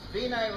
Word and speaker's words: Vinay: It's Vinay like a W, not like my cousin Vinny, one of the funniest movies ever made, by the way, and.